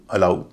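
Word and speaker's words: allow: Dough Johns A double L ओ डब्ल्यू अलऊ।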